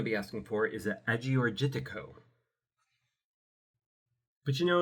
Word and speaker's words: Agiorgitiko: And you're going to want to get the Ah-your-yeek-tee-koh. Now, this is a Greek word, so of course it is not spelled remotely how it sounds or sounds remotely how it's spelled.